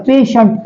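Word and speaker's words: patient: तुमच्या लक्षात येईल बघा पेशंट स्पेलिंग बघा कसं आहे पी ए टी आय इ एन टी पेशंट इथं हा टी आय इ एन टी हा सायलेंट झाला टी जो आहे तो सायलेंट झाला त्याचा श असा उच्चार झाला बरोबर या टी चा उच्चार कसा झाला पेशंट याचं जरी मराठीतून लिहिलं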